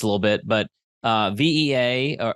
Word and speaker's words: VEA: little bit but uh vaa or vea is how you pronounce it um you do executive